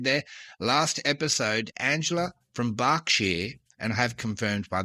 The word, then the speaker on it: Berkshire: Last episode, Angela from Berkshire, and I have confirmed by the way that it is pronounced Berkshire even though it's spelled Berkshire.